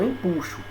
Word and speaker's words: empuxo: é a questão do empuxo certo muita gente fala empuxo mas não é empuxo a palavra a pronúncia correta é em puxo certo quando se mergulha